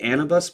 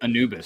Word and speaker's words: Anubis: And I I believe it's called and I don't want to pronounce it wrong, but it's the the Anabus protocol. King Anabus protocol. It's got an Egyptian theme. It's pretty cool. Anubis.